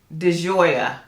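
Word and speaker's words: di Gioia: this is ocean how do you say it deoya yep that's that's how you say it y'all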